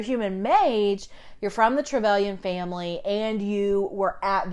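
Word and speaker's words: Trevelyan: a human um so the travelan I think is how you pronounce uh their name they're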